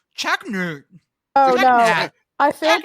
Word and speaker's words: Choconut: But in Pennsylvania, it's pronounced like Chocolate.